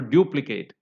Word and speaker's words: duplicate: syllable from the end you can count for example duplicate you segment it dup Kate so the end one is Kate and the third one from the end is it is due that's where